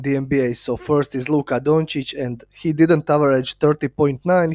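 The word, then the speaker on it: Luka Dončić: and don't talk about Luca donic first of all you can't even pronounce his name correctly all you keep saying is Luca dunic like a uneducated idiot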